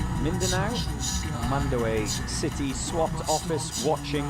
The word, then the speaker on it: Mindanao: And um Seg Fred says, "I'm sitting here in the is that Mandana?" Mindanao.